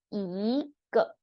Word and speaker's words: 一个: We don't pronounce fourth tone g as how the Google Translate Pinyin system show you. It's pronounced as neutral tone. E here, because it's neutral tone or fourth tone, you need to pronounce the E as second tone.